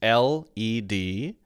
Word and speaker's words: led: If you're talking about that in the past, then it is LED, pronounced led.